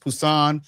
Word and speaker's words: Busan: dealing with Korean if if it's the letter B in English, it's pronounced P. Right. Like the city of Busan is pronounced Pusan.